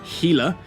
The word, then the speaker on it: Gila: why the worm the gila yes it is pronounced gila and the rattlesnake look like kaldari ships namely